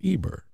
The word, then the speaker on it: Eber: letters and it's it's pronounced Eber today in in English we say Hebrew but in in the actual Hebrew language it's Eber and so we would